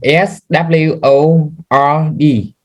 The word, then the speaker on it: sword: Spell it. Saw. SWORD.